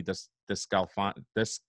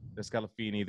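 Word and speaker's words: DeSclafani: Wade Miley, the 4th starter, Anthony Descalfani. I can never say his name. Descalfini, there you go.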